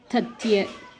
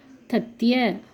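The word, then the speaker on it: तथ्य: லெட்டரும் வந்தால், இத்து ய தத்ய இப்படி வந்துச்சு அப்படின்னா லாஸ்ட் லெட்டரை நம்ம ய அப்படின்னு ப்ரொனவுன்ஸ் பண்ணணும். அதாவது ஃபுல் லெட்டராக நம்ம ப்ரொனவுன்ஸ் பண்ணணும். ஆஃப் லெட்டர் மாதிரி இல்லாமல் ஃபுல் லெட்டராக ப்ரொனவுன்ஸ் பண்ணணும். தத்ய ஃபேக்ட் செய்தி.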